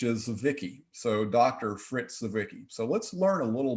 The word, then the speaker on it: Zwicky: good old dot fritz c wiki but so wiki is german and the correct pronunciation the z has a ts sound so you'll you'll hear